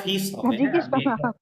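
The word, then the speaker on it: fils: জানি তো ছেলেরটা ফিস হবে ও সরি এলটা সাইলেন্ট থাকবে ও আচ্ছা আচ্ছা ঠিক আছে স্যার এলটা সাইলেন্ট ছেলের ক্ষেত্রে এলটা সাইলেন্ট থাকবে জাস্ট এফ এবং আই এর উচ্চারণ আছে হ্যাঁ বাদবাকি তিনটা লেটার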